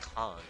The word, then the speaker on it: Khan: Cuz yeah, his name is pronounced con like you know con man.